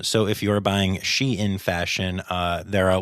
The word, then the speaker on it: Shein: uh it is pronounced shein um even though it is spelled kind of like shine it is she in fashion and I guess it's